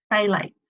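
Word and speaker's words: phthalates: not great so I'm the first one is fail eights that's how you say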